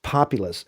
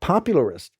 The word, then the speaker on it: populist: It's populist." And he goes, "Yeah, popularist." And so he's kind of adding a syllable.